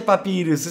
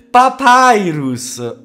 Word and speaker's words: Papyrus: classici che ti fanno se non si dice papirus si dice papyrus mannaggia la miseria la